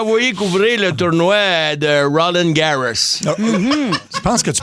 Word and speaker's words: Roland Garros: Il nous a envoyé couvrir le tournoi de Roland Garros. Je pense que tu prononces peut-être pas les mots... je pense qu'on dit Roland Garros.